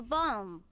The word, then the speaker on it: balm: the lip balm boom a bomb with an l yeah it's like lip stuff that you put on your lips well some people pronounce it without that that's weird thank you rick shouted